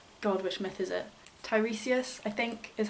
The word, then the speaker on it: Tiresias: Tiresias, I think, is how you say it, who's